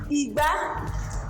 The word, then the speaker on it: igba: Igba.